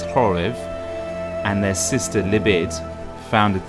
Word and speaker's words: Khoryv: three brothers ki shlek horev it's spelt with a cable that you say is horrif and their sister libid